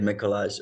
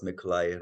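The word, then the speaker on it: Mikołaj: my name is Dr mikolai so pretend that Jay is a i that's how you pronounce my name I get mikolash all the time but thank you I would introduce myself as mikolai Dr mikolai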